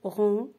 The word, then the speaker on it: rond: Ensuite, la lettre G peut être muette dans certains mots. C'est-à-dire, elle ne se prononce pas. Et voilà les exemples. Doigt, éton, long, son, rond et point.